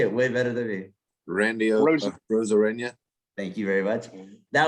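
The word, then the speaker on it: Randy Arozarena: casey you say it way better than me randy rosarina thank you very much that was one of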